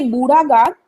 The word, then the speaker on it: बूढ़ा: इसको जब इंग्लिश में लिखेंगे तो इसकी स्पेलिंग BURHA आएगी, बूढ़ा। ठीक है, हिंदी में भी शायद बूढ़ा कर ही लिखा जाए, लेकिन तब भी आप अपने दिमाग में बूढ़ा शब्द रखिएगा।